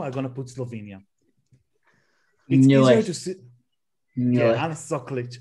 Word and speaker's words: Ana Soklič: Anna Soklič. Anna Soklič. Listen, guys. This is how you pronounce the queen, okay?